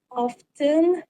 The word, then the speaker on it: often: For example, I've always been unsure how to pronounce often without the T sound.